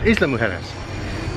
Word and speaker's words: Isla Mujeres: it island harness but in spanish they pronounce the s so it's isla mujeres they need some breakfast